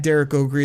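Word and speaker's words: Derek Okrie: can find me at Derek O'Gree. That's spelled DerekOkrie.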